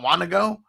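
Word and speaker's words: Wanogho: to go bro w-a-n-o-g-h-o is that not wanna go yeah yeah totally right uh what do they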